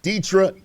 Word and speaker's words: Deetra: On the phone with me, you're going to see her name, but you don't say it like you think it is. It's Deetra Giles.